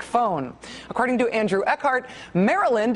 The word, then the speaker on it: Maryland: According to Andrew Ehart, Maryland is pronounced to rhyme with Merlin.